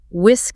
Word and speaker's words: whisk: The verb whisk silent h.